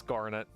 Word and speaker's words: Garnet: her hair hold on bar pronunciation it's Garnet shut up don't try